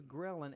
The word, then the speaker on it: ghrelin: way well ghrelin now ghrelin is spelled g h r e li n ghrelin this is the